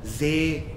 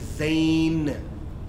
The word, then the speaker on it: zain: So zain, so the name of this letter is not zay, za. The actual name of this letter is zain, as in the name zain beaker, zain hood, yeah, zain, zainul abidin, zain.